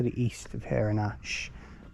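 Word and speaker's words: Ashe: And the River Test has its source 1 mile to the east of here in Ash. So that's how you say it. A-S-H-E though, spelt differently to the other way.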